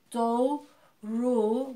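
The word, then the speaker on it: doğru: our before and after we're extending the vowels so therefore that G becomes silent so so okay so look we don't have to pronounce the G in this case dole rule dough rule we have to pronounce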